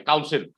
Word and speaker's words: council: mentioned is c-o-u-n c-i-l council you know the meaning of the council right an assembly of people okay council and council okay same pronunciation okay council and council